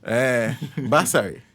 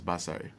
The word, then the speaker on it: Basari: I think I was pronouncing more towards tree. More towards tree. Yeah. No, it's got nothing to do with tree at all. Oh, okay. It's very far away from tree.